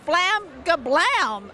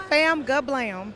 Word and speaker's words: Fam Gablam: Now we're making a special stop at Flam Gablam. That's what did I say it right? Almost. It's Fam Gablam.